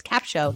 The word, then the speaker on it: Capsho: say what what is capshow how do you spell that so let me make that very clear it's capshow c-a-p-sh-o capshow recast studio is what we use